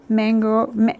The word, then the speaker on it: Manyo: Sailor Mango. I want to say mango, but it's spelled M-A-N-Y-O.